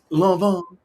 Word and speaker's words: Lanvin: Lanvin. Yes. That's how you say it. I'll figure it out cuz I'm that person to House of Lanvin? It's a Um yeah, so House of Lanvin.